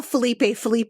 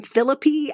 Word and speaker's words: Felipe: Like, he didn't call Felipe, he called him Philippi.